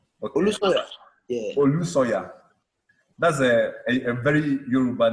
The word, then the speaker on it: Olusanya: Or what's the correct pronunciation of your surname? Is it? Yeah, Olusanya. Olusanya. Okay. Olusanya. Yeah. Olusoya.